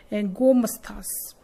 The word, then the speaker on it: गोमस्था: उनको नाम दिया गया गोमस्थास वर्ड इसकी से प्रोनाउंसिएशन है गोमस्थास।